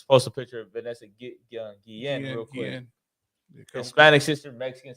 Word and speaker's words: Guillen: Guillen. Guillen? Guillen, yeah. Anybody familiar with Vanessa Gillian or Guillen? Vanessa Guillen.